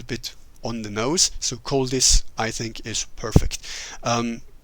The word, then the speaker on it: Koldis: Cold ice basically. Coldis.